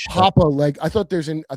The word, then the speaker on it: Papa Legba: Papa Legba but the real name? More You You You almost had it. Papa Legba. It's like voodoo sort of uh Oh, it's not Papa Legba.